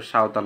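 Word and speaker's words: সাঁওতাল: পাহাড়ী অঞ্চলে থাকে সাওতাল তোমরা এখানে অনেকে ভুল উচ্চারণ করতে পারো এটা সাওতাল হবে সাওতাল live in Rajshahi Khasia and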